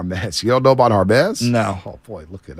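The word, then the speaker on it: Hermès: know it's is it Hermes it's called It's pronounced our best okay I didn't okay okay I'm trying to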